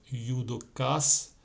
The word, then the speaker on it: yudokas: Ejemplo, la cama con un C, los dos yudokas, no se pronuncia ju aquí, es una palabra japonesa. Aquí se dice los dos yudokas con la letra K.